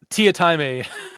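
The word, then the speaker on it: Teatime: It's spelled tea time, but the assassin himself pronounces it Tiatime.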